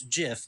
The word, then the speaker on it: GIF: it's graphic interchange format so it's a hard G on graphic or I toward short it should be if that line itself it should be gift but the person who created it the inventor says it's jiff because choosy programmer choose